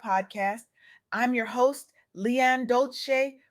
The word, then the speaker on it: Dolce: I'm your host, LeAnne Dolce, pronounced Dolce, and today I'm absolutely electrified to share with